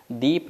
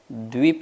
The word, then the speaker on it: द्वीप: ध्यान से देखिए क्या लिखा है, जम्बू द्वीप, दीप नहीं बोलना, द्वीप है, ठीक है ना, दा में वा भी लगा, द्वीप है।